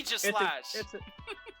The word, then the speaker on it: Aegislash: Everybody mispronounces this bond's name, and it annoys me. But maybe I'm just the weird one. But whatever. It's Aegis. Yeah. Aegislash.